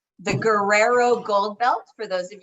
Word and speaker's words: Guerrero: that correctly it's the guerrero gold belt for those of you who are anglicized and for those of you who speak spanish they've taught me to roll my r's it's the guerrero gold belt and so that's where